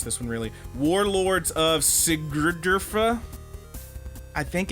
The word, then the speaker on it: Sigurdurfa: That is how it's spelled. Sigurdurfa. Sigurdurfa. Sigurdurfa. Because there's an R before and after the D.